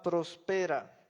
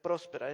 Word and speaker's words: prospera: vez que tu alma prospera no lleva acento en la no no se debe leer próspera es prospera eso es cultura cultivar qué